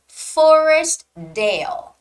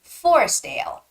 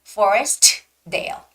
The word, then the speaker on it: Forestdale: it's more like Forestdale you don't necessarily have to make the T sound so it's Forestdale don't say Forest Dale it's just Forestdale Forestdale